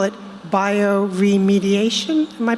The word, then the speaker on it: bioremediation: You don't know you're looking for 2 books about extreme cleaning, or as you call it, bioremediation. Am I pronouncing that correctly?